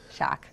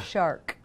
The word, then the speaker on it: Shark: Everyone laughs at the way I pronounce it. Shock. Yeah. Shark. There's an R in there.